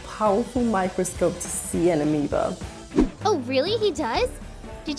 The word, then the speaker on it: amoeba: barely touched your amoeba the spelling of this word is a bit different from the pronunciation AA amoeba an amoeba is a